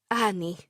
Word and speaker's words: Annie: desire My Name murmured with that guttural accent which palatalized and emphasizes the first syllable making the second one very short Ani no one will ever